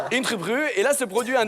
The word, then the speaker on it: Ingeborg: Après la mort de sa première épouse, ok, Philippe Auguste se marie en 1193 avec Ingeborg, princesse du Danemark. En danois, ça se prononce Ingeborg. Ingeborg.